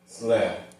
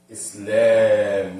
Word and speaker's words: Islam: They normally spell it with one A, but really it's a medda. Islam, not Islam. Islam. Nah. And it looks like this. It's so cool. Islam. So that alif is elongated in the lam.